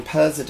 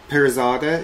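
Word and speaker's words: Pirzada: just your last name perside i always feel like is that right is that wrong it is sort of right i guess pirazzada is how you say it yeah more exotic you're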